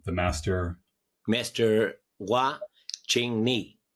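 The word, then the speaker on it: Hua-Ching Ni: So how did you then meet up with, I forget how to pronounce his name, the master? Master Hua Ching Ni. Hua Ching Ni.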